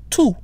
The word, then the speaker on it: tous: So we're using the masculine plural form of tout, which is T-O-U-S, pronounced the same way, tout, followed by the plural form of the, which is les, L-E-S, so tous les Français.